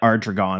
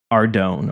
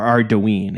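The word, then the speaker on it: Ardougne: When I started doing the podcast, I kind of trained myself to stop calling it Ardragon and start calling it Ardone or Ardoine.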